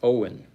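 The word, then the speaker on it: Eoin: First name is pronounced Owen.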